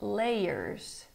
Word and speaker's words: layers: It works in layers. It works in layers. Rhymes with player.